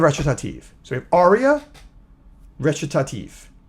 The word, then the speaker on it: recitative: So we have aria, recitative. Right? That's the way it's pronounced.